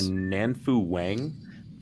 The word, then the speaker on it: Nanfu Wang: It is on HBO, and was it directed by Nanfu Wang? Thank you. Yes, that is her. It's good pronunciation there too.